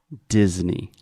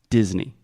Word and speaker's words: Disney: two things here first this is a hard D at the beginning so there's no G or G it is de de Disney perfect secondly the e y at the end a lot of Brazilians have the tendency to say a a but this is E just like g e Disney do we say the